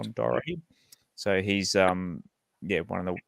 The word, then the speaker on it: Dorahy: Did I pronounce that right? Correct. John Dorahy.